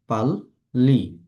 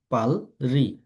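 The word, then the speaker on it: 빨리: হবে ল উচ্চারণ করে যেমন পাললি পাললি এটা যদি আমাদের রুলস যদি না পড়তাম তাহলে আমরা কি পড়তে হতো এটা পালরি পালরি কিন্তু এটা আমরা এই রুলসটার কারণে ল একসাথে উচ্চারণ করে দিব পাল্লি পাল্লি আরেকটা দেখি এই রিয়লের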